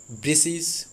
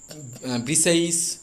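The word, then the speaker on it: Briseis: দ্য অ্যাকিলিসেস war prize ব্রাইসিস, অনেকেই বলেন ব্রিসিস, অনেকেই বলেন ব্রিসাইস। ওকে, যেটাই বলতে পারো, আমি এখানে ব্রাইসিসই বলবো, কারণ এটা গ্রিক ওয়ার,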